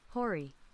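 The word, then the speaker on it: hoary: say this hurry it's it's h-o-a-r-y hurry it's h-o-a-r-y and i looked it up and how to pronounce it and this is what's pronounced this hori hori hurry yes correct jake can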